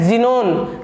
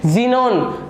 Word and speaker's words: Xenon: Element है वो है ज़ीनोन। क्या है? ज़ीनोन। स्पेलिंग लिखी हुई है XENON, लेकिन हम इसकी जब प्रोनाउंसिएशन चेक करते हैं तो इसको कहते हैं ज़ीनोन। क्या कहते हैं? XE को बोलते हैं ज़ीनोन।